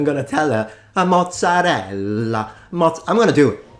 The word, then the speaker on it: mozzarella: We are looking at how to pronounce with the typical Italian pronunciation the name mozzarella. Nah. Mozzarella. You do want to insist on the double... No, you don't.